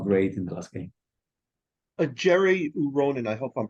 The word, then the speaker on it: Jere Uronen: Jerry Uronen, I hope I'm pronouncing that correctly. Who? He's gotten the defender. Yeah, Jared. Jere Uronen.